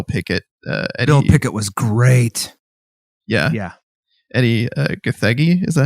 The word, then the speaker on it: Gathegi: Eddie Gathegi, is that how you say his name?